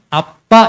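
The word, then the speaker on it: Abba: 정확하게 그 헬라어 알파벳은 영어 알파벳으로 바꿔주면 A, B, B, A 이렇게 써 있어요. 그래서 정확히 발음이 아빠 이렇게 나와요.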